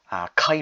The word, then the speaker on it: kai: If you find it difficult to pronounce, find the consonant and the vowel. So k, a, ka. And you have the I sound, ka, I. Say it together without a break, kai.